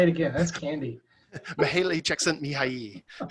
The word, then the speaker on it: Csikszentmihalyi: get into the flow theory and this is Mihaly Csikszentmihalyi which that's all I like to do is